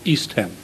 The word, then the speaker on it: East Ham: If ham part is pronounced, then it should be East Ham.